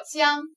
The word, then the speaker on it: 疆: 这个字读作江，边疆的疆，吴江的疆。